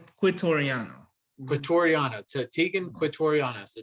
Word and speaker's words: Quitoriano: Quitoriano.